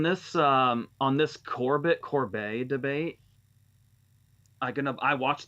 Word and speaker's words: Corbet: announcement for these and they said Corbet I I'm I might try to get used to saying that it's going to be really hard I hate mispronouncing names but I've said Corbett since funny game games came out that's